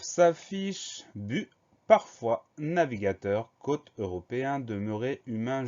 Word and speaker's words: parfois: Première syllabe par, P-A-R, deuxième syllabe fois, F-O-I-S. Donc la seule difficulté, c'est ce S muet à la fin du mot. Le son OA s'écrit OI comme d'habitude. Donc on pense à mettre ce S à la fin de parfois.